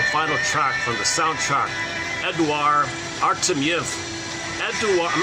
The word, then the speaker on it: Eduard: Not Edward, it's Eduard. I think it's Eduard.